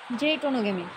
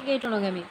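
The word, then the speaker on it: geitonogamy: এসে দেখলে এখানে লেখা আছে জেইটোনোগেমি, আবার এখানে লেখা আছে গেইটোনোগেমি। একই একই বই দুই জায়গায় দুই রকম উচ্চারণ দেওয়া আছে, তো তোমরা তোমাদের মতো করে উচ্চারণ করবে, তোমাদের যেটা ভালো লাগবে।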